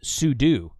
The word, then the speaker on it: sudo: Linux in Red Hat class pseudo is actually pronounced sudo it's super user do so it's telling the